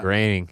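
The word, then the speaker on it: Groening: And so Matt Graing, not not him, but some of the other pronounce his name. Matt Graining.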